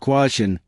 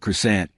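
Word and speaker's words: croissant: "It's pronounced kwah-sohn, not kris-ant."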